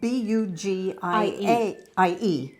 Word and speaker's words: Bugie: Yes, because my entire life, this was called Bugie. Bugie. And I started looking it up, and it's because it's spelled B-U-G-I-E. It's Bugie. So Yeah. Bugie to Bugie. Now I find out now that we pronounced everything wrong.